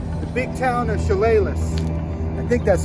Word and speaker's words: Chehalis: That's how you pronounce it. At that mural right there, Chehalis.